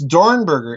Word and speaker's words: Dornberger: And please note the pronunciation, everybody. It's Peenemünde, not Peenemünde, or, I hear so much stuff. It's Dornberger, in other words, that is heading von Braun